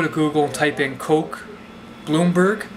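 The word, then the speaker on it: Koch: For those of you who want to see it, just go to Google and type in Coke Bloomberg. Coke is spelled K-O-C-H.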